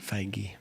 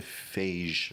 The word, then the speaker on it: Feige: Feige. I always want to say Phage or something like that.